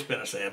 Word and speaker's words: spinosad: just a minute ago now people pronounce that different all over the country I call it spinosad yeah it's really spelled spinosad and some people call it Spinosa but it is spinosad but that is that